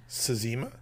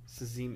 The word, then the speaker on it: Cxema: Sazima? Sazima, yeah. I mean, there's an X... So it must be the Z. CZEMA? CXEMA? Yeah, did I say Z? Yeah, it's CX. It's pronounced like a Z.